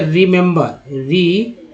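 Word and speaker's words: remember: तो 3 ही है, एक ही का छोटी, एक का दूसरा ही का ए और तीसरा ही का आ का उच्चारण हो रहा है। क्या पढ़ते हैं इसे? रिमेंबर, रिमेंबर उच्चारण हुआ रिमेंबर।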